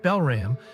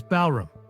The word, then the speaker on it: Balram: I mean, I was calling my assistant Belram, but his real name is Balram, I explained, laughing between sentences.